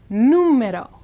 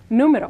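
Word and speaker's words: número: students get them confused numero numero which means number notice the accent mark so that's where we're going to stress now here the r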